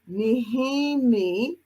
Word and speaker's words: Nehemie: And so for my guest today, I have Coach Nehemie.